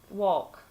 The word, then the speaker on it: walk: yes and when you just go you say walk or walk yes so they're very similar yeah